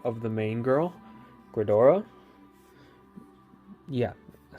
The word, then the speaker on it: Gredora: We have 4 of the main girl, Gredora.